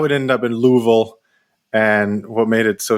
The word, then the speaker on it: Louisville: You gotta pronounce it Louisville. It's got you gotta have like you gotta say it. Yeah, you gotta say it right. You gotta say something. Sorry. Louisville.